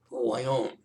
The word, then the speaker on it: Voillaume: how to pronounce it it's tricky in french v o i l l a u m e who i own and as a non-french